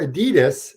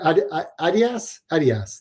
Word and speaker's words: Adidas: That's how you guys pronounce it over there. That's the correct way of saying it. Adidas is the way we say it here in North America, but Adidas is how you pronounce it.